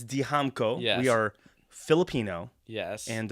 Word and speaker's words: Dijamco: So, Damco, right?